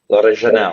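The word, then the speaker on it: L'Orignal: And there was one episode that you were in and I hope I don't pronounce this wrong, but L'Original Jail. L'Original, yep.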